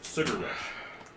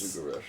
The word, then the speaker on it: Sugarush: everyone that says it out loud, it's like it's Sugar Rush because of the way that it's spelled. They think it's Sugar Rush. Sugar. Sugar Rush. Yeah. Sugarsh. But that's Sugarush.